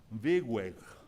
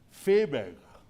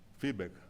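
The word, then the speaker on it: Viehweg: alemán que se llamaba Wigweg, y me dice Walter, Fiebeg. En ese tiempo yo no sabía que la V en alemán se pronuncia F. ¿Se acuerda de eso? Sí. Fiebeg.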